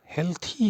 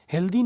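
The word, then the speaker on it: healthy: हुआ मैंने पाया कि अरे हेल्थी ही होता है हेल्दी नहीं होता है हेल्दी लोग बोलते हैं आपको ग में भी हेल्दी मिल जाएगा बट वी शुड से व we should prefer saying हेल्थी okay तो हेल्थी ही बोलिएगा अगला वर्ड है एजुकेशन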